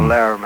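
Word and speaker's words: Lärm: that was with a dutch band called uh alarm or laram as it's pronounced over there oh yeah um we're really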